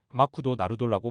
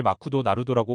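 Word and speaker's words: マクドナルド: 일본인이 제 말을 알아듣더니 마쿠도 나루돌라고 말하더군요 그러니까 일본인들은 맥도날드를 마크도 나루토라고 발음하고 있었기 때문에 제 발음을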